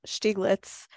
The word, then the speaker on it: Stieglitz: in the chat um thank you Ava the pronunciation of his name is Steve stieglitz and Sharon and Lead said um she lets